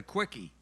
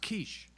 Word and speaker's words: quiche: your order and he said I'd like a quickie oh and she she smacked him she smacked her and he turned to mean he said what did I do and I said it's pronounced quiche ah yeah right well there's you know a